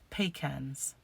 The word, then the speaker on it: pecans: do you call or how do you say the word that is spelt p-e-c-a-n-s pecans they're pecans pecan nuts we call them pecans or pecan nuts so